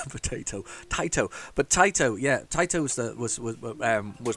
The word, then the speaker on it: Taito: It's by, and I've got it right, everybody's told me how to say it, it's Taito. I'm meant to be saying Taito all this time. I'm meant to be saying Taito. So it's Taito, not Tato, as I keep on saying.